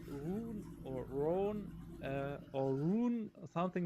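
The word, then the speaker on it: Roon: It's a low R and a hard O. That's one of my. That just sounded so bad. But actually, a lot of German players say Rune or Rhone or Rune, something like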